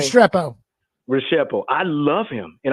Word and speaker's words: Restrepo: But the kid that I absolutely love that he didn't get drafted is Xavier How do you pronounce his name? Restrepo.